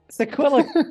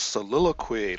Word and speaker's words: soliloquy: I loved your sequila. Okay, the pronunciation is soliloquy.